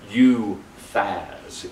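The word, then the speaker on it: Uphaz: u p h a z well actually it's pronounced U Faz it's you Faz so I'm thinking of myself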